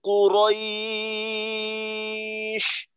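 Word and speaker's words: قريش: উচ্চারণ কিন্তু কাছাকাছি থাকবে, তো এখানে যদি আমি এইভাবে বলি কু রই তাহলে কিন্তু কফটা একটু দূরে থাকবে, তো কফটাকে দূরে রাখা যাবে না, কফটাকেও বাকি উচ্চারণের সাথে মিলিত রাখতে হবে, কুরাইশ কুরাইশ কুরাইশ, লিলাফি কুরাইশ লিলাফি কুরাইশ।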